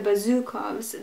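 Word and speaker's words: Bezukhov: The stressed syllable is marked with an acute accent. So they put an accent over whatever letter you should stress. So the Bazukovs, they put the accent over the U, so Bazukov.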